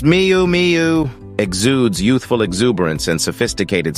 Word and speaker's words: Miu Miu: as large bows and intricate Embellishments Mi meu pronounced Miu Miu exudes youthful exuberance and sophisticated style but it's